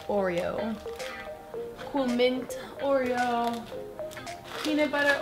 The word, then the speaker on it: Oreo: Abbiamo Golden Oreo, in inglese si pronuncia Oreo, Cool Mint Oreo, peanut butter Oreo, strawberry cheesecake.